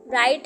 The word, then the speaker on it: write: अब हम इसे राइट तो नहीं रीड करेंगे ना, राइट कितना अजीब सा लगेगा, तो हम इसे क्या बोलते हैं? राइट हम बोलते हैं। तो इसमें कौन सा वर्ड साइलेंट हो गया? W।